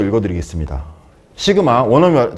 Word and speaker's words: 시그마: 아 강주 있으면 바로 따라했는데 시그마 지그마 지그마 아 뻥이에요 이거는. 여러분 이거 뻥입니다. 이거이 지금마 뻥이에요. 제가 약간 다 지로 발음하는 법을 있어 가지고 어 뻥이고요. 이거는 얼토엉덩터하는 말이고요. 시그마라고 읽으시면 됩니다.